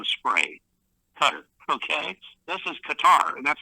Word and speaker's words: Qatar: And remember it's qua t a r I believe how it's spelled. Qatar. It's not cutter.